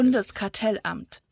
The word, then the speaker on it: Bundeskartellamt: Let's go to the pronunciation because that sounds pretty close. Blackers. Bundeskartellamt.